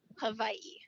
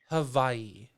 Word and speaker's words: Hawaii: the w is is with more of a v sound so it's who hawaii hawaii hawaii i know i'm